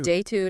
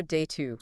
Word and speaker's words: data: And this one I hear both ways. You do. Day two. Day two. Exactly. And both of those are actually correct. They're both correct.